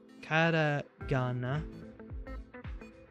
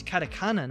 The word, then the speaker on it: katakana: Katagana. All right. It's katakana. Never mind. My bad. I've been saying it wrong the whole time.